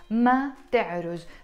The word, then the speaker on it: ما تعرج: But when you want to use the negative imperative form of the verb, you have to drop the b and you say ما تعرج and pronounce the عين.